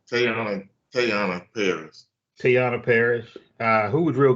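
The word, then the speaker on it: Teyonah Parris: Is it Tiana Paris or? Yeah, Tayana Paris.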